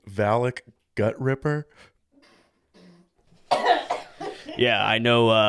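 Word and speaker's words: Valik: Do you want to say Valak Gut Ripper?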